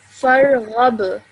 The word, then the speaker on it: Farghab: Farghab. Farghab. Okay, produce some more of a jerk sound at the end, please.